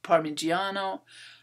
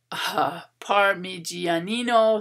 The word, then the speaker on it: Parmigianino: renaissance style and mannerist paintings by potormo and parmigiano parmigianino sorry i always get that name wrong a feature elongated figures ambiguous space an